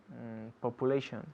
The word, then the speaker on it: population: Population. La U es como U.